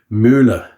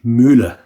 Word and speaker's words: Mühle: So R41 Müller, that's the proper pronunciation. Müller, German.